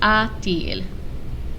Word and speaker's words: a-t-il: The T doesn't mean anything. It's just for pronunciation. So if you are writing a question using inversion and the verb ends with a vowel and the subject starts with a vowel, you have to put a T in between them, just like this, so you can pronounce it.